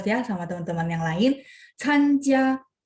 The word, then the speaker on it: 参加: 参加 C bacanya angin, benar nggak? Jadi bacanya参加menghadiri, berpartisipasi.